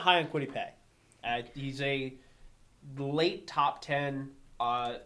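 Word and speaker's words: Kwity Paye: Quiddy Pay.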